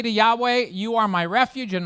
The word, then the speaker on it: Yahweh: say what is that that is the appropriate way of pronouncing what was written in the King James version Jehovah it is the personal